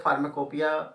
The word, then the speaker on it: Pharmacopoeia: इसको बोलते हैं हम फार्माकोपिया, और इसका जो स्पेलिंग होती है फार्माकोपोइया लिखा जाता है।